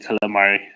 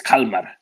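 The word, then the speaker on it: Kalmar: the town called calamari I still think that you're saying calamari it's Calmar right sorry about my pronunciation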